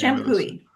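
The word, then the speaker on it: Champoeg: Oh, that's Shampooie.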